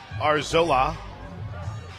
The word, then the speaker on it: Arzola: runner at first Isabella arzola steps the plate a r- z- l a a that's the pronunciation got the laa in all caps bonds popped foul I